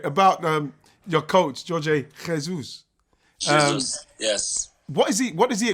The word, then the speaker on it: Jorge Jesus: Jorge Jesus.